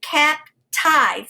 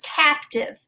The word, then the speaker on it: captive: the second syllable and typically we would say cap tithe because the e helps the eye say its name but this is an exception to the rule it is captive so i would mark